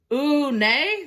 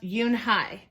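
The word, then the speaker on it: Unhei: Ooh, nay? The girl asked, scrunching up her face. Ooh, nay, some kids chanted. No, Yoon-hae corrected. It's spelled U-N-H-E-I. It's pronounced Yoon-hae. Oh, it's you-hey, the boy said.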